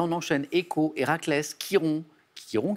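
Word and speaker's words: Chiron: enchaîne échos héraclès quiron quiron qui s'écrit ch alors écho la nymphe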